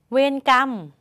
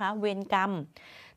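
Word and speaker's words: เวรกรรม: นะ คะ ถัด มา เวร กรรม มี ค่ะ มี ตัว สะกด คำ เดียว กับ กรรมการ นั่น เนาะ แต่ มา อยู่ ข้าง หลัง ค่ะ ไม่ ต้อง มี เสียง ม้า มา ต่อ ท้าย อีก แล้ว นะ คะ เวร กรรม ถัด มา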